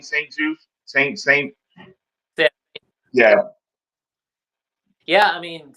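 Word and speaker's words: St. Juste: How do you pronounce that last name? Saint Juice.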